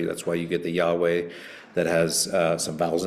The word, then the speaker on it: Yahweh: So that's how they get Yahweh.